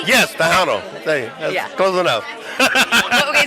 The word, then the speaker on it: Tejano: So, Did I pronounce that correctly? yes, Tejano. That's close enough. Okay, say it again. Tejano. Tejano, yeah.